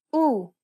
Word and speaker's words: ου: The last vowel sound for this lesson is ου, ουρά, ακούω, καπελού, κουρούνα. This double vowel is pronounced like the double O sound in the word pool.